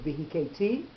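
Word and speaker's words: וְהִכֵּיתִי: The accent goes on the last syllable, not on the syllable that would be normally accented in that word. So, Vavarti, Beretz Mitzrayim, V'layla Zeh, V'hiketi, Kol Bechor, those ones are Vav Ha'ipuch.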